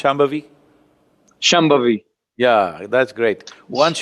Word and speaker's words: Shambhavi: Can you pronounce Shambhavi?